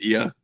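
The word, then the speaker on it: Oia: Well, I'll say we like is it pronounced Ia? Yeah.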